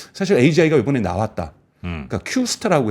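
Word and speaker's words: Q*: 그러니까 Q스타라고 해서 Q하고 이 스타 별점을 읽는 거를 Q스타라고 읽어요.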